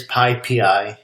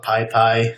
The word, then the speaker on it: PyPI: to say it is pi pii it's python package index so you you put the emphasis on the the pi P A lot of people do call it Pi pie um I've heard Pippi